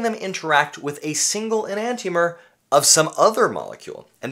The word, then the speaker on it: enantiomer: enantiomer, By the way, I've heard people mispronouncing it on YouTube as enantiomer, and that's not right. It's enantiomer. Why?